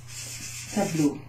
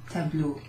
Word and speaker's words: tableau: This is pronounced O. Incidentally, that's the word for water, but it's also a phoneme on its own, and you'll find it in what kind of words? Ah. Tableau. Le tableau. In fact, I've got like